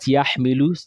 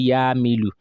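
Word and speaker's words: يحمل: So for example, that Yahmilu, they may say Yamilu, Yamilu, or Yamilu, Yamilu. They will be pronouncing Hamza Sukun, Yamilu, instead of Yahmilu.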